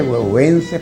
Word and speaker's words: Güegüence: Se escribe huehuense por C, porque así se pronuncia, huehuense, y así está escrita la obra.